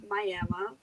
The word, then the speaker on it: Miami: have comes from oklahoma from a town called miama it's written miami but pronounced miami folks and in this town all the restaurants